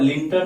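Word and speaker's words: Lytton: लेकिन 1878 में Lord लिंटन या लिटन दोनों उच्चारण करते हैं।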